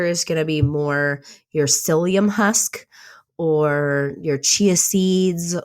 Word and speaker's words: psyllium: like psyllium is good psyllium is started with a P it's P sy ll I um it's pronounced psyllium so that one so